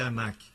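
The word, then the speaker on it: Anak: os descendentes da anac anac se pronunciasse mesmo em hebraico anac eles eram os descendentes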